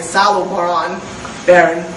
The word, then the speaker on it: Salo Baron: The famous professor of history of Columbia, Salo Baron, that's how you pronounce the name, the European way, the English way, he contended in his